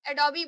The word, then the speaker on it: Adobe: और इसे हम प्रोनाउंस करते हैं। जैसे ए डी ओ बी ई है तो इसको हम एडोबी बोलते हैं।